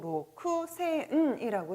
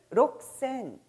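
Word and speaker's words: 六千: 자, 따라서 여러분들이 가격을 묻고 대답할 때 6천이란 단어도 로크에 천이라는 단위 센이 붙어서 스펠링은 그대로 로쿠센이라고 쓰지만 발음은 록센, 록센이라고 했었던 것도 바로 이런 이유에서 있었던 내용이 되는 것이죠.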